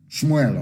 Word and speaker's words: Samuel: Let me tell you what Samuel said. Shmuel, of course, correct pronunciation.